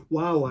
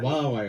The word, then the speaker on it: Huawei: You never know how to That's pronounce with an it. H, right? That's with an How H. do you say that? Huawei. Huawei.